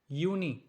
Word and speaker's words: Juni: June, it's like Juni, and the spelling is like Juni. As I told you at the very beginning that the sound of J would change into Y.